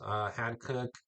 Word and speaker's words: Hankook: A lot of new hats, Hankook, I believe is how you pronounce it, tire brand.